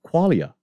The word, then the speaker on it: qualia: Well, it's essentially the study of experience, or the study of qualia. Qualia. So that's three syllables, right?